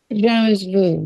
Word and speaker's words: jamais vu: Jamais vu. Did I say it right? Jamais vu, yeah.